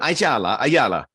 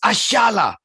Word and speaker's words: Ayala: So I went, Ayala. 2 Timber fans came out. It's pronounced Ashala.